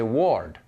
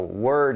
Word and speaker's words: word: english speakers say europeans if they see a word like word they'll say ward w-o-r-d war because in their language o is o in english because we have the strange spelling you know word is w-o-r-d bird is b-i-r-d heard is h-e-a-r-d but they're all pronounced the same bird heard word so a lot of